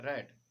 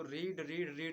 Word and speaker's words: read: हाँ, रीड का third form होता है रेड।